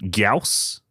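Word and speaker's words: Gyaos: Gaus.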